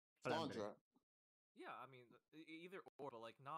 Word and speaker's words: Flandre: I actually, like a long time ago, a bunch of us went to a native French speaker, and he said it was Flandre. Flandre.